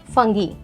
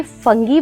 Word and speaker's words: fungi: ना फर्स्ट, अब आप इसे फंगी बोलेंगे, फुंगी बोलेंगे या फंजाई बोलेंगे। तो ये तीनों जो टर्मिनोलॉजी उसी बायोलॉजी में, उसके प्रोनाउंसिएशंस बच्चे काफ़ी कंफ्यूज करते हैं उनमें। सो इट्स all about UK English and US English. आप कुछ भी प्रोनाउंस कीजिए, फंगी, फुंगी और फंजाई, ऑल द 3 are correct in this case.